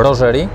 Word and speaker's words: Rogeri: rodziny fotografów bielawskich drogerii będziemy się posługiwać taką po niemiecku nazwą rogeri bo też niektórzy wymawiają rogeri utrwalamy to Roger i